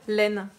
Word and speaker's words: laine: Comme on écrit d'ailleurs laine. La laine. On voit A-I-N, mais on n'entend pas le son 1, puisque là, il y a 2 syllabes, puisqu'il y a une nouvelle voyelle à la fin.